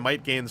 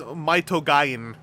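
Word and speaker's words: Might Gaine: getting secondhand the Gatai Might Gains feels very doable. Well, technically it is Maitogain, but I am choosing to Romanize that pronunciation to Might Gain.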